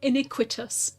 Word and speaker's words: Iniquitous: not gonna throw an Inquisitus Baptist in here. Why would they? Hey, what'd you know? It's an Inquisitus Baptist. Well, iniquitous. Iniquitous. I always say it wrong.